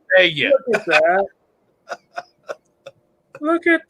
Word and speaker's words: Vidalia: He goes, no, it's pronounced Vidalia. I'm like, no, it's not. You ain't from around here, are you? Right. I said, I'm from Georgia. Right. It's pronounced Vidalia.